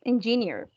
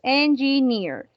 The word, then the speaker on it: engineer: Or, engineer, right, engineer. You see, you have the two differentiation in the accent here in near and in the accent here in an. Engineer, engineer, engineer, engineer. Three syllables, engineer.